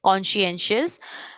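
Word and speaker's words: conscientious: है कॉन्शेंशियस बोलते हैं इसको देखो कैसे प्रोनाउंस करेंगे I will tell you Kansa एंस दो टुकड़ों में डिवाइड करके इसको प्रोनाउंस करेंगे ठीक कॉन्शेंशियस इसका मतलब है ना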